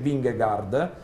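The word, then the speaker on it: Vingegaard: tra un po' sentiremo Come si pronuncia in danese wingguard ehm questo ragazzo che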